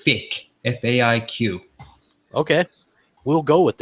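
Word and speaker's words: Faiq: We have, I have to pronounce his name properly. It's Fick, F-A-I-Q.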